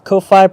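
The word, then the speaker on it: Ko-fi: subbing Vicky Robert says Kofi pronounced like coffee basically Andy what's up good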